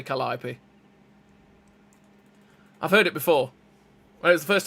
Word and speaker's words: Calliope: way we say things, it looks like you say Calliope, but it's Calliope.